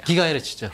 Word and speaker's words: 기가헤르츠: 네, 이렇게 LTE 용도 2.1기가 GH는 뭐라고 읽어야 되나요? 기가헤르츠죠. 기가헤르츠.